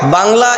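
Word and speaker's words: ب: এটার নাম হল বা বা উচ্চারণ করার সময় আপনার মুখটা খোলা থাকবে। মুখ কখনো বন্ধ হবে না।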